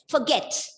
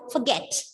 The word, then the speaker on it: forget: Forget. See, look at the word forget. Forget, it's a verb with two syllables. You are stressing on the second syllable, forget.